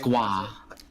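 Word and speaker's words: Grøh: It's Groh, G-R-O-H, Groh. Am I saying that right? I think so. Yeah. He looks cool. No, you're sure it's wrong. Yeah, I think so. It's pronounced Gua. Gua.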